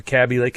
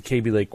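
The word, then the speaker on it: Kaby Lake: tock to-do and and the to-do is this KB lake or cabbie lake. I everybody pronounces it differently at Intel. I think I've been told that it rhymes with maybe. So, it's KB KB Lake.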